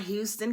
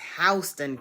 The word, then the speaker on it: Houston: Living here means mastering local pronunciation. It's not Houston County, it's Hston County.